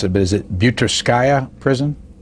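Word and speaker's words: Butyrskaya: Yeah, you mentioned, and I shouldn't even try to pronounce it, but is it Butirskaya prison? Butirskaya.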